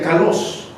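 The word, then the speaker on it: καλός: Y déjenme decirles que la palabra bueno viene de una palabra griega que se pronuncia kalos, que habla de lo hermoso de lo que hacemos, de aquello que es algo agradable delante de Dios.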